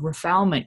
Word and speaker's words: refoulement: I think during the emergency event, you discussed the issue of refoulement.